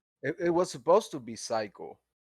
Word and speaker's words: TP Psych: It's not TP Psych. It's Psych. It's just Psych, so basically the Yeah. T is just silent. Silent T, and that's it.